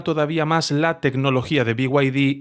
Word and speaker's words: BYD: a su mayor competidor, BYD o BID, como lo pronuncie cada uno, BYD, con la pronunciación en inglés.